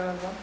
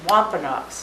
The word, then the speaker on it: Wampanoag: It's Wampanoags, not Wampanoag. Some people say Wampanoag, but that's not how you say it. And if you say it in Indian, it's just a little bit different.